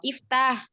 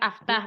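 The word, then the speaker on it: اِفْتَحْ: Alifnya itu dibaca kasroh. Iftah, ikro. Bukan aftah, bukan akro. Tapi iftah, ikro.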